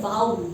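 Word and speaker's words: vowel: जी हाँ, वोवल सही प्रोनाउंसिएशन नहीं है इंग्लिश में, सही प्रोनाउंसिएशन वोवल का है वाउल। जी हाँ, वाउल साउंड।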